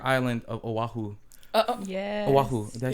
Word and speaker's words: Oahu: uh the entire island of oahu oh yeah oahu did i say that right yep you said